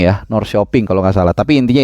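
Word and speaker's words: Norrköping: p i ng G jadi Nor koping Tapi bacanya Kalau enggak salah Nor shoping ya Nor shooping Kalau enggak salah tapi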